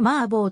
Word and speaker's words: 麻婆: ことに由来するマー坊の中国語の発音は濁らないはポーだが日本ではこれをマーボーと二ゴロせて